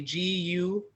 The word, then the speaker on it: Gurage: And the Guragi, and that's spelled, it looks like garage, but it's actually Gurage, Guragi.